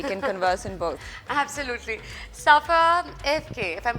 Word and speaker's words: Safa Evke: Safa Evke, if I'm pronouncing it correctly, is that right?